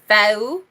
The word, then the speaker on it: Fehu: are talking about is Fehu. Fehu. A lot of Scandinavian people call it Fehu. It's like the H is silent, and it's F-E as in fed. So it's Fehu.